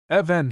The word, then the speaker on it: even: In the same class of errors is that of making an extra syllable in such words as even, 7, heaven, 11, and given, where properly the e is elided, leaving even, heaven, and so forth.